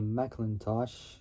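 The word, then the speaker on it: McIntosh: available included a uh a mosh can't really say it well like it's like saying Macintosh almost but M mosh I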